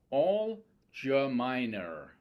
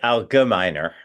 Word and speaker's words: Algemeiner: And he's also an editor of the Algemeiner, and I'm hoping I pronounced that correctly. You did not. It's a hard G. Algemeiner. Algemeiner.